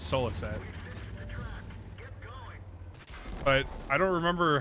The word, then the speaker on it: Souliset: though awesome very cool how do you say your name it's solo set but I don't remember